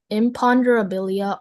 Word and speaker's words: imponderabilia: Your word is imponderabilia. Imponderabilia. Can you put your hands up? Imponderabilia. Imponderabilia. Imponderabilia. Imponderabilia. Imperabilia. Uh, can I have the definition, please? Sure. Imponderabilia are things that cannot be precisely weighed, measured,